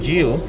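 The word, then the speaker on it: gyil: as the solo xylophonist the musical instrument that I play is called J but people call it xylophone in English language so um and how do you spell that J J is g y i l and it's the same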